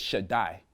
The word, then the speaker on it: Shaddai: When the Daleth and the Yod get together, it pronounces a long I sound. So you get Shaddai.